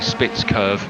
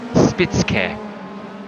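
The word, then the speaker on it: Spitzkehre: Spitzkehr, which is actually Spitz curve if you're from the south of England like I am and talk like this. But I think in German it's actually Spitzkehr.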